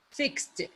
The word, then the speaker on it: fixed: So, what is the final sound? Is it ED, D, or T? Please, let me listen from you. What is the final sound? D, T, or ED? T. What is it? I T. can't hear you. Fixed. T. Fixed. Yes? T sound.